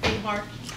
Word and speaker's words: Behar: Behar?